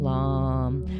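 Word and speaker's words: LAM: of an aries thing the seed sound for the root center is oh as in road even though it's spelt l a lom but it's this o like in road in the sound so it'd be oh like low and it's actually to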